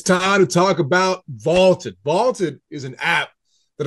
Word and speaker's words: VLTED: Vaulted is spelled V-L-T-E-D.